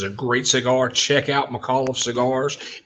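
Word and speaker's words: Micallef: topnotch this is a great cigar check out malli cigars m i c a l l e f uh that's how you spell it and I'm saying it right so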